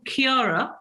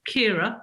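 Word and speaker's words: Ciara: 9th and it was storm Chiara or Kira depending on how you say it which had hit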